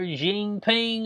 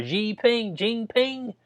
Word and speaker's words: Jinping: If you over in China and you got up here and you slander Jinping up here, or Jinping, yeah, I think that's how you say it, Xi Jinping, Bo, that you have your ass slammed in the you go missing.